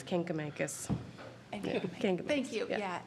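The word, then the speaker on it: Kancamagus: And it's Kinkamakis.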